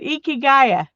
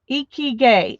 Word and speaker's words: ikigai: Barbara would pronounce it Ikigaya. How's that? Ikigaya. That sounds pretty good to me, but I don't know how close it is. Oh, she's gonna show me. Ikigai.